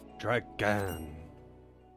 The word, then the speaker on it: Dragan: come see for yourself Dragon they really pronounce it like with a lot of emphasis on that g almost as if it was a double G what the it couldn't